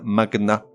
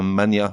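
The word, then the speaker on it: magnat: Or, contre toute attente, certains mots se prononcent avec le G séparé du N, comme un magna, et non pas un mania de la presse par exemple.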